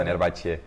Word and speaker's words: Fenerbahçe: Fenerbahçe, né?